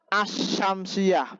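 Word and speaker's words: الشمسية: Lite yang mudah bacanya as-syamsiah berarti idgham dia berarti al-nya tidak dibaca nah al-qamariyah Idhar berarti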